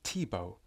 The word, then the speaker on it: Thibault: Pronounced Thibault.